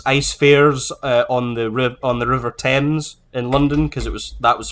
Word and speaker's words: Thames: How did you pronounce it? Thames.